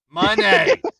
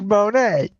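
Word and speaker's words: Monáe: like if he says it that's how it's pronounced it's kind of like Mercedes Monae Monet it's Monae make me angry I will get you it's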